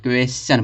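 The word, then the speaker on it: question: रहा है, देखो चा निकल रहा है, क्वेश्चन, क्वेश्चन पढ़ा जाता है इसको, क्वेश्चन। यहाँ पे टी को उच्चारण क्या निकल रहा है, चा निकल रहा है।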